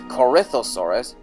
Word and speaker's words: Corythosaurus: as they're being chewed of course the correct pronunciation is corythosaurus but if your name is Corey or if